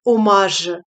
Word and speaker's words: homage: by illusions and imitations i pronounce in a french way like homage like original french it might take a